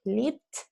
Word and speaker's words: live: Remember that the verb is always pronounced with E, the verb. Live, lived, has lived, etc. The noun is life. The noun is pronounced with an I. So say, my life, but I live. You see? That is the change in pronunciation.